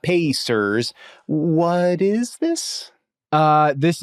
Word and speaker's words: Pacers: And why do you keep saying the name wrong? You keep saying Passers. Maybe you're not aware of it. I The reason that I know it's Pacers is because their shirts say yes sers.